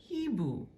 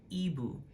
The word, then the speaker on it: hibou: In their pronunciation, like the little phonetic, representation of the pronunciation, it just has like the I, like ibu, but it tells you in parentheses that it says le H est aspiré. It is an aspirated H.